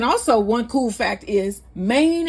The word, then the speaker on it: Maine: Okay, and then also one cool fact is Maine is the only state with 1 syllable.